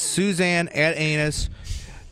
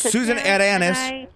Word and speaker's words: Susanne Atanus: name it just says suzan at anus doesn't excuse me don't mispronounce my name it's Susan Anis suzanis a Tannis thinks